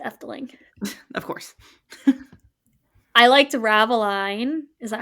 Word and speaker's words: Ravelijn: I liked Raveline. Is that how you say it? Raveline? Ravelijn.